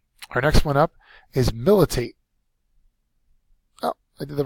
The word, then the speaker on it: militate: move on to militate militate is a verb first syllables accented it means to have